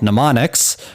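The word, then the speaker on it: mnemonics: memorize things, they're called pneummonics, which is not pronounced the way it's spelled. It starts with a silent M.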